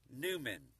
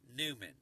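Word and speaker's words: Nauman: Her name is Kendra Newman. I'll spell it out. K-E-N. D-R-A, N-A-U-M-A-N, that's her last name, Newman, N-A-U-M-A-N, and she does this for a living,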